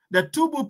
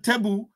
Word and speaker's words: Tubu: The Tubu people, pronounced sometimes Tebu, are a Sahara ethnic group inhabiting northern Chad.